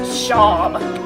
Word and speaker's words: Seam: It's pronounced Shawm.